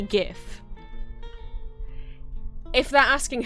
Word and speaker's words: GIF: wild decision considering that the G stands for graphics which has the hard G sound sound why if it's